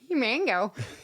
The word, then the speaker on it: Himango: We should Watch, it's like him and go. Himango.